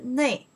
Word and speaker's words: 内: Okay, so then here, this way pronounced li, right? And this one pronounced ne.